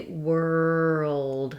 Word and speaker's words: world: So that's where using this almost two-syllable version is going to be able to get you all of the sounds and say this word accurately. Once you can say world slowly like that, try